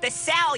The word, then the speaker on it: DeCell: That's pronounced the cell, you idiot machine.